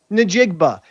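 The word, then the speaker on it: Njigba: It's pronounced Nigba. If you look at the word, you can actually see it's nigba.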